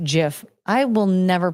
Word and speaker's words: GIF: Also, I'm pretty sure it's pronounced GIF. I will never pronounce it that way. It's GIF. It's GIF. The G stands for graphic. It's not graphic.